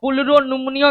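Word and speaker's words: pleuropneumonia: अब पुलरो निमोनिया के बीच वाला पी साइलेंट रहता है। इसको पुलरो और निमोनिया पढ़ते हैं।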